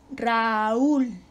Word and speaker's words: Raúl: que debe estar unida raúl pasa lo contrario la sílaba tónica tenemos un diptongo raúl una fuerte con una débil pero la sílaba tónica cae en la débil y la regla del